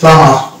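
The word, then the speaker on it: plumber: কিন্তু একটি মাত্র ওয়ার্ড রয়েছে যেটা হচ্ছে প্লামার। এই শব্দটা হচ্ছে প্লামার, এই যে প্লামার, এখানে কিন্তু বি সাইলেন্ট থাকবে শব্দের মধ্যে থাকা শব্দ। অতএব এই ব্যতিক্রমী শব্দটি আমাদেরকে জেনে রাখতে হবে।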